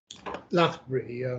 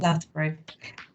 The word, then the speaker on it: Lathbury: Is that the correct pronunciation? Lathbury, Mum. Lathbury.